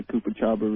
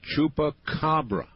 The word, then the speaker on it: chupacabra: showing that they think the Koopa Chabra really did it. That's the Chupaca Cabra.